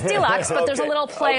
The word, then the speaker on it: Dealuxe: weeks and it is an e-commerce website you pronounce it deluxe it's deluxe but there's a little play on the spelling